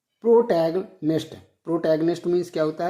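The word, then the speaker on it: protagonist: इसका प्रोनाउंसिएशन जो है सही से आप लोग याद रखेंगे, प्रोटैगनिस्ट।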